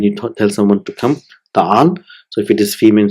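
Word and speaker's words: تعالَ: So it will be ta'ala. So it's normally it is ta'ala, but it is pronounced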